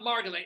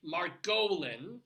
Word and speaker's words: Margolin: it's not Margolin, it's Margolin. That's how my father pronounced it.